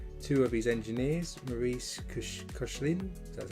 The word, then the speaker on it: Koechlin: Two of his engineers, Maurice Koechlin, that's how you say it, and Emile Noguer,